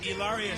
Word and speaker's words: Hilaria: Hilaria.